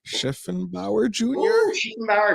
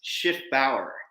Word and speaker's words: Schiffbauer: last name mr schiffenbauer people do that all the time it's shift bauer jr it's a german name people get the typically the spelling wrong all the time the c is silent i have two f's